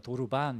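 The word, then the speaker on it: דרבן: 이게 히브리어로는 도르반 이렇게 이제 발음하는데이 채찍은 그냥 그 뭐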